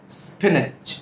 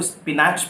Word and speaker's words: spinach: पालक स्पिनच, स्पिनच, स्पिनच. Spelling जरूर SPINACH है. तो लोग गलती से इसको स्पिनैच बोलते हैं, पर ये स्पिनैच नहीं होता, ये होता है स्पिनच, स्पिनच, स्पिनच.